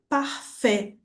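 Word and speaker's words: parfait: E temos por fim o a com I, que tem som de e. ou som de e. Então, o exemplo que eu trouxe para você foi da palavra parfé, que significa perfeito.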